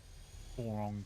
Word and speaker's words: Boron: Okay, so with that one, mate, you're just missing the O between the R and N. B-O-R-O-N. Boron. You're close. It's spelt like the element.